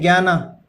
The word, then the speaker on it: ज्ञान: इसको ज्ञान कहते हैं, ज्ञाना। तो ये प्रोनाउंसिएशन आप जनाना कहेंगे, लेकिन ये जनाना नहीं है, ये क्या है? ज्ञान कहते हैं इसको इंग्लिश में।